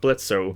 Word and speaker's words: Blitzo: take time to rework Blitzo. the O is silent.